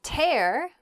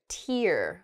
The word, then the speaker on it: tear: of paper in half the same spelling um can also make a uh the word tear which is uh that drop of water that comes out of a person's eye when they're sad or sometimes when they're very happy use them both in